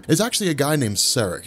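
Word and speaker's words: Saarek: actually a guy named saric at least i think that's how you pronounce his name it's s-a-a-r-e-k regardless uh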